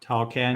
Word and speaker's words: Tawcan: Uh, how are you pronouncing that? TAWCAN? TAWCAN, At yeah, TAWCAN.